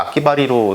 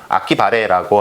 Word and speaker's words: 아키바레: 발음하기가 좀 편해서 이렇게 와전되다가 악기바리로 된 것 같고요. 정확하게 일본어로는 악기바레라고 하는 것이 맞는 표현입니다.